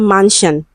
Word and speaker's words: mansion: Okay, so option A, we have mansion. Okay, it has the voiceless.